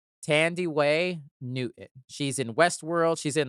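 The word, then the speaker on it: Thandiwe Newton: know she corrected the spell the pronunciation it's pronounced Tandy Way Newton she's in Westworld she's in the second mission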